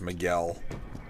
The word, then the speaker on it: Miguel: It's pronounced Miguel.